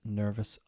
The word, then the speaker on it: nervous: Various, serious, nervous, obvious, previous. Most of my students don't really have a problem with this. What to remember, the OUS rhymes with miss, not us, or mouse.